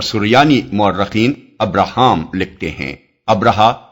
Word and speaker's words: ابرہا: مورخین ابراہام لکھتے ہیں۔ ابرہا غالباً اسی کا حبشی تلفظ ہے کیونکہ عربی میں تو اس کا تلفظ ابراہیم ہے۔ یہ شخص رفتہ رفتہ